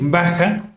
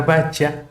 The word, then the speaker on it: Bach: Bach, su nombre se escribe Bach, tal cual si lo buscan en Google. Es Bach como se escribe, pero se pronuncia Bach, porque en alemán la Ch, la CH se pronuncia como J. Entonces no es Bach, sino Bach.